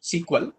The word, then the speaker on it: SQL: that is what sequel that is sq exactly pronounced sequel out of what sequel